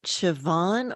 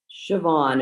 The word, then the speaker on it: Siobhan: great and is it Siobhan or Siobhan Siobhan it's an old Gaelic name sound and the BH is pronounced with a v I responded just about